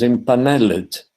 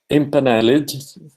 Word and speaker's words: impaneled: To say this title is impaneled. Impaneled, you see down at the bottom. Impaneled is pronounced impaneled, not impaneled. So the final syllable needs to be pronounced.